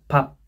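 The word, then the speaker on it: 밥: Kemudian biup sama piup ini ada menjadi piup, tapi bacanya puh, lebih dekat puh. Nah, ada pap, piup, piup, b, a, p, ya bukan b,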